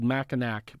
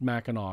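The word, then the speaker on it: Mackinac: in the year but Mao island nation and it's spelled maak but it's pronounced maau because it's French uh the idea is that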